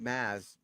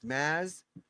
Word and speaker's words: Mads: So you call it Maz. You get the D is silent. So it's Maz Vimos Lararsson Denmark.